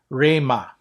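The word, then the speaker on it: ῥῆμα: As we mentioned earlier, in the letters that start with R, you always put a rough breathing mark on top of the letter. So this is pronounced Rema.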